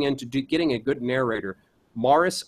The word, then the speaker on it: Maurice: and you're looking into getting a good narrator Maris R Cravens it smell like spelled like Maurice Maurice M Au u r i c Mars